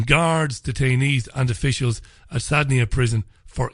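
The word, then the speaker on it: Saydnaya: They allege that mass hangings took place every week at Sadnaya prison, Sadnaya I think it's pronounced, Sadnaya prison, between September 2011 and December 2015.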